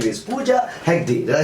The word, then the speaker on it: Pooja Hegde: So today we have a heroine and her name is Pooja Hegde.